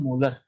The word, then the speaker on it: M: इसको पढ़ते हैं हम मोलर, इसको ये जो m है ना, इसको प्रोनाउंस कैसे करते हैं, m को प्रोनाउंस कैसे करते हैं, मोलर।